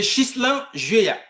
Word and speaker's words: Ghislain Hué: C'est Ghislain Juéa.